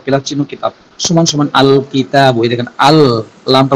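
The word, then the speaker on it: الكتاب: চিহ্ন, কিতাব সমান সমান আল কিতাব, এই দেখেন আল লামটা উচ্চারণ হয়েছে। কিতাবুনের শুরুতে আমি আলিফ আর লাম যুক্ত করলাম, যুক্ত করলে লাম হরফটি স্পষ্ট উচ্চারণ হচ্ছে আল, আল, আল কিতাবু, কিতাবটি বা বইটি, আল কিতাবু কিতাবটি বা বইটি।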